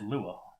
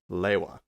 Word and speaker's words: Lewa: How does everybody pronounce this guy's name? Lewa. I pronounce it Lua, or at least that's how it seems in my head. Liwa? Because there is a bit of debate among the Bionicle community about how to pronounce this guy's name, despite the fact that many times it has gone on record. The canon pronunciation is Lewa.